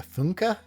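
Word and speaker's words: Funke: And then I read Inkheart by Cornelia Funka is how it says in the book as how it's pronounced.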